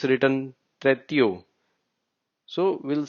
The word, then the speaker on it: trettio: Even in 30 it's written tretio. So we'll say it treti. O is silent.